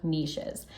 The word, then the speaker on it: niche: paid therapy specializations or niches. Now, you might have heard the statement, the riches are in the niches. I prefer to pronounce it niche, but that is 100% true in the therapy field.